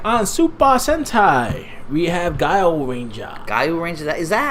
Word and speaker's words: Gaoranger: We have Gaoranger. Gaoranger? Is that how it's announced? Gao. Gaoranger? Gaoranger. It's like you're meowing.